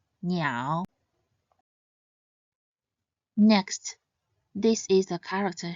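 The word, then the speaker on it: 鸟: It should be read in the third tone, niao, niao.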